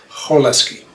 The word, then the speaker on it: Cholesky: is, we can move on and state the Cholesky Factorization Theorem. Actually, I've been told that the correct pronunciation is Cholesky.